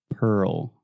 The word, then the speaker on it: Pearl: Yes, that RL combination can be quite difficult for a lot of Brazilians and Portuguese speakers. So I always just recommend slowing it down, really articulating both syllables. Pearl.